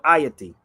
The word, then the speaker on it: Ayiti: Here it's spelled Ayiti. Okay. Give me 1 second. I'm gonna put it up here. AYITI. It's called IATI.